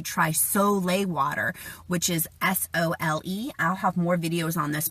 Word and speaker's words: sole: Soleil water, which is S-O-L-E. I'll have more videos on this, but it's pronounced Soleil, but it's spelled S-O-L-E, about the benefits of pink Himalayan salt.